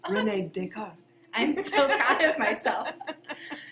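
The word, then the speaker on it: René Descartes: a French accent uh you said it correctly Renee deart I'm so proud of myself so Renee dick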